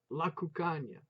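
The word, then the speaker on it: Cuccagna: The terrace for the tomatoes he called La Cucagna. It rhymes with lasagna.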